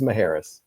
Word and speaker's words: Macheras: It's Macheras, correct? The last name. It's a good Greek name. I always used to say that C is in there for confusion.